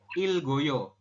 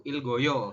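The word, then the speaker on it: 읽어요: Oke jadi ini kan tulisannya ilek Oyo tapi anda membacanya adalah Il ini dibacanya Il saja ya geknya naik ke sini ke vokal O jadi Il go kemudian yo seperti itu Il Goyo oke Bentar ya saya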